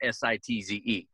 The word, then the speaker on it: Sitz: sites it's sit TZ and it's you know pronounced like camps sites but it's sitz so uh anyhow we uh my dad had